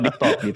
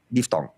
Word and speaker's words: diftong: Bukan itu diftalk. Makasih. Thank you, makasih. Apa nih diftalknya apa nih? Dua vokal yang apa nih diftalknya apa nih? Dua vokal yang diucapkan barengan. Ai, au, pantai. Itu namanya diftong.